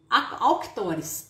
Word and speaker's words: Avictors: se chama avictores ok a gente lê autores tá mas se escreve avictors ok então é Essa empresa